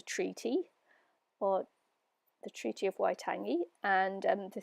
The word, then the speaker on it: Waitangi: of Waitangi or in married to charity Oh Waitangi and I hope I didn't butcher that too hard but um that's how it's pronounced and so the Treaty of Waitangi or